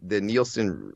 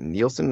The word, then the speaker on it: Nielsen: Apparently, the Nielsen, the rate, was it Nielsen?